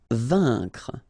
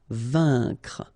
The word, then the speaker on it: vaincre: Vaincre. A-I-N together. Here it's un. Vaincre. C-N-R-C. Vaincre.